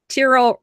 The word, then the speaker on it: Tyrol: He says, Tyrol rhymes with squirrel.